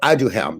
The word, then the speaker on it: Aduhelm: one is so i mean i can't even pronounce it all right it's called i do help that's a d u h e l m